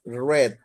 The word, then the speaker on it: read: the same spelling but remember the pronunciation is red red uh only change the